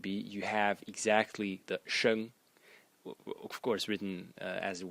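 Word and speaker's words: 生: But if you would add this little stroke over here, it would be, and it would be pronounced sheng, sheng.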